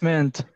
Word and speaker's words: meant: mint. Mint. Mint. It's meant. Meant. Yeah. How do you pronounce that, teacher? Mint Meant. or meant? No, that's meant.